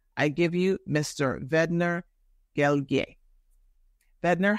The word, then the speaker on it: Guerrier: It's pronounced Guerrier for those of you that are looking at it, but he gave me a cheat code to make it sound like Perrier. It's Guerrier.